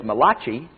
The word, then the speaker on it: Malachi: well in the book of Malachi also known as Malaki depending on how you pronounce it chapter 4 verse